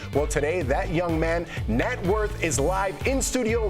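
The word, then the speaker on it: Gnat: So Jeff was trying to remember how to say Nat, not Nate.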